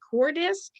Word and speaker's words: Coordisc: your business name correctly is it core disk uh yes it's the first syllable of coordination and the first syllable of discovery perfect and before i